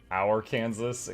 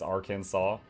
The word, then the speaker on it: Arkansas: Our Kansas communism. It's not your Kansas, it's Arkansas. If it was Arkansas, it would be spelled that way, but it's not spelled that way.